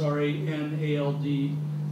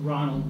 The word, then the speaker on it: Ranald: led by Ranald, that's R-A-N-A-L-D. People pronounce it Ronald, but it's actually Ranald.